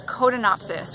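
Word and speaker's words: Codonopsis: for herbs we need codon opsys which is one of those herbs that's really expensive that lets say that again coda not Odin opsys spell that Co do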